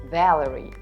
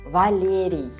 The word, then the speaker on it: Валерий: The same happens to the Russian male name Valery. For an English speaker, it makes more sense to read it as Valerie. So it's just something to remember. In Russian, these names sound as Ivan, Denis, Valery.